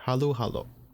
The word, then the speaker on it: halo-halo: we have uh oh the commission of the filipino language claims that the proper spelling of halo halo is h-a-l-u-h-a-l-o one word halu hallo which is kind of how you pronounce it as well halo halo it's not halo halo it's usually it ends up pronouncing it very subtle difference to the untrained ear very very subtle there exists a piton